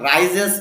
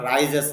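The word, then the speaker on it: rises: যেমন দেখেন দা সান রাইজেস বলি আমরা, রাইজেস না, রাইজিস হবে উচ্চারণটা। দা সান রাইজিস ইন দা,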